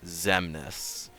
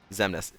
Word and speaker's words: Xemnas: Xemnas. Xemnas. Or, as some people call him, Mansex. Why is the X pronounced like Z?